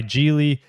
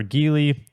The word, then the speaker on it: Geely: It is owned by Geely or Geely.